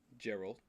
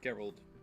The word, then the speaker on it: Geralt: I like the kind of scary hero character like um Gerald. Is it Gerald? What's his name? Geralt of Riviera. I said his name wrong.